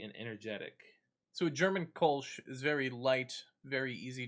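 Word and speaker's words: Kölsch: Coffee, I don't know how you pronounce that. Kolsch. Kolsch.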